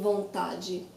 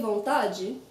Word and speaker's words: vontade: When the DE is the last syllable of the word, you will hear different pronunciations of that in different parts of Brazil because we have different accents. I say vontade, not every Brazilian will say the same way.